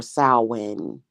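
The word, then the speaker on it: Samhain: I don't know anyway Sam Hayne is what it is or swin swin is actually how you pronounce it so it's just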